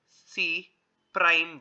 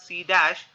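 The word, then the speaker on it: C′: It is denoted by C prime. We call this as C prime. Many of them pronounce it wrongly as C dash.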